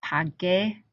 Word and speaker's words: pagué: the first person singular, there's a silent U after the G to make that a G sound. So it's pagué, pagaste, pagó, pagamos, pagastes, pagaron. And again, the U is silent. Pagué.